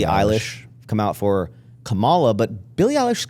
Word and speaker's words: Kamala: So it's not Kamala. I don't know. It's Kamala. It's like common Allah.